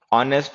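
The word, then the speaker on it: honest: ऑनेस्ट है, आवर है, एयर है, ऑनरी है, ऑनरेबल है। इनके साथ में एन का यूज़ किया करो। क्योंकि एच इन में साइलेंट होता है।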